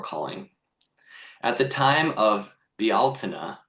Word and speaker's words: Bealtaine: At the time of Bealtaine, which I only recently learned is the proper pronunciation for Beltane, which is how a lot of people from where I'm from say it.